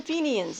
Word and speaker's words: Fenians: I pronounced that correctly. He has joined the Fenians, a secret society intent on ending British rule in Ireland by any means necessary.